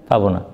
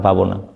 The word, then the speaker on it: পাবনা: কি শহরের নাম মারবো যেমন পাবো না শহরের নাম কি পাবো না কেউ যদি উচ্চারণ না জানে বলবে যে বাংলাদেশে একটা জেলা আছে এর নাম পাবো না যদি পাবনা জানলে তো বলবে পাবনা নতুন মানুষে কি বলবে